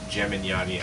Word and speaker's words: Gemignani: It's pronounced Gemignani. I won't make you struggle anymore. Thank you. I think it's pronounced with a hard G.